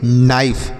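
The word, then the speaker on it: knife: अगला शब्द क्या है के एन आई एफ ई तो इसे हम क्या पढ़ेंगे नाइफ देखिए यहां पर भी के और एन एक साथ है तो यहां पर के को नहीं पढ़ेंगे के और एन एक साथ है तो के को नहीं पढ़ा जाएगा तो इसे हम नाइफ पढ़ेंगे नाइफ का अर्थ होता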